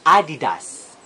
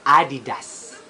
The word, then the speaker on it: adidas: ba ma next is we pronounce it adidas but the founder of the brand is Adele dustless and his neck nickname is Adi and his surname is that so it should be pronounced adidas it should be pronounced